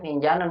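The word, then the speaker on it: فنجان: Kalau kata finjan yang artinya cangkir, ini dibacanya finjanu atau finjanun? Apa bacanya? Finjanu bertanwin atau enggak? Atau finjanun bertanwin? Bacanya benar yang mana? Hah? Bertanwin, finjanun. Finjanu atau finjanun? Finjanun. Kan ada alif dan nun. Kok bertanwin? Kan ada alif dan nunnya. Apa jawabannya? Jawabannya bertanwin, finjanun, benar. Karena ini kan bukan nama.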